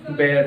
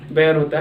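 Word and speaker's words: bear: कई लोग क्या करते हैं, भालू की इंग्लिश को बियर कहते हैं, उसका प्रोनाउंस करते हैं, बियर नहीं होकर के वो क्या होता है, बेयर होता है।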